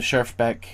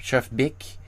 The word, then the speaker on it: Schjerfbeck: not speak Finnish and I have heard a little bit more of nuanced pronunciation of chef chef Bick and I hear also Helen. So maybe not Helen or Helena but Helen which again nuance.